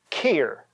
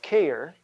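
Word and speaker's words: cheir: Let me give you the root word care, C-H-E-I-R, care, which is the same way we pronounce C-A-R-E, and this literally means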